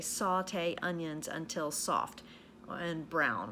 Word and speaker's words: sauté: s a ute and there's an accent on the e there it's a French word okay sauté means to